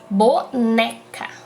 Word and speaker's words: boneca: gente tem um exemplo da palavra boneca boneca o né fica mais forte então a sílaba tônica